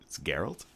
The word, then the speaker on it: Geralt: him girl there's no what yes Ari I pronounce it completely red it's Geralt yeah he's iridium of Franken I don't understand